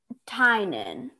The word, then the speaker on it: Tynan: And do you say your name Tinnen, or how do you say your name? Tynan. Tynan. All right, now I got it.